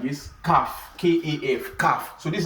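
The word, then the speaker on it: ك: Something like this, calf, K-A-F, calf.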